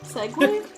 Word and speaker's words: segue: Why is it pronounced like that? Segway?